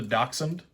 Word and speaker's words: Dachshund: based off of the Dachshund, the dog. So I mean, all you got to do is just call it Dachshund. You know? When have you ever seen Dash spelled like that?